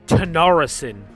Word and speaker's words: Tanacharison: And I believe that's actually half-king Tanarison is really the correct pronunciation of it.